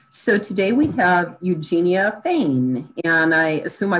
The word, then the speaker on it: Fain: in a row so today we have eugenia thane and i assume i pronounced that correctly that's correct you're right yeah